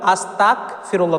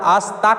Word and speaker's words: আস্তাগফিরুল্লাহ: অর্থাৎ আকার উচ্চারণ হবে বাংলা গ উচ্চারণ হবে আর আরবিতে গাইন উচ্চারণ হবে এই জায়গায় যদি আমরা আস্তাক বলি মানে আকার ক